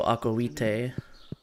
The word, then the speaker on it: aqua vitae: i see i see if you know anything about classical latin the the v's were pronounced were more w's so akoite okay there's still a